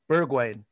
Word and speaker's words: Bergwijn: Pronounce his name again? Bergwijn.